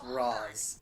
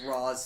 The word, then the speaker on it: Ra's: __ ] hate that he does pronounce it as roz and i think that movie pronounces it as raw's too and i just like honestly from what i've seen it goes back and forth like some characters call them race and others call them raws yeah no i mean